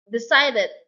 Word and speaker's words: decided: Decided. The second is decided. Decided. Stress on the second syllable.